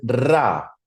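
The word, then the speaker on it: רע: Y el mal, obviamente, el mal se pronuncia, el mal en hebreo es ra. Ra, R-A, ¿cierto?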